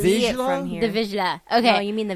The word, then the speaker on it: Vizsla: The Vizsla.